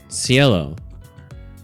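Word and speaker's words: Cielo: Pronunciation. Sello.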